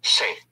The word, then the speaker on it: sé: Instead of sabo, you just say, se.